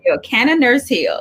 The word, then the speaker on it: CannaNurseheal: CannaNurseheal, yes.